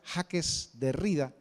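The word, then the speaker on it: Jacques Derrida: a un filósofo judío francés su nombre se pronuncia jaques de rida que en una importante entrevista que le hicieron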